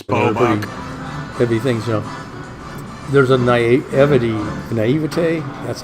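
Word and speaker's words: naïveté: heavy things, There's a naivete, that's how you say it, French.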